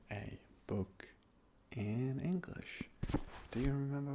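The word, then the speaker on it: Buch: h like I said it's quite close to the uh to the English word b sounds a bit like book just with bit of a different ending but this is how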